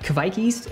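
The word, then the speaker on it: kveik: so real fresh um yeah so keveki's that's a norwegian fight kaviki's actually is what's how you pronounce it uh that yeast ferments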